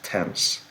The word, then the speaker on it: Thames: Alors oui, ça se prononce Thames, sous la Tamise.